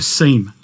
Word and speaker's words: SIEM: and event management solution, or a SIEM, or a SIM, depending on how you say it.